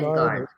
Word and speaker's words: Kaningard: Is it Kaningard? Kaningard. Ken. Kaningard. Like Ken. Barbie and Ken.